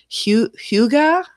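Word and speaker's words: hygge: pronounce that it's a it's a Scandinavian worse spelled hyg GA it's Hyuga which means you're just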